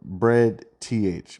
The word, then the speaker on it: breadth: The word is spelled bread, TH, BREADTH.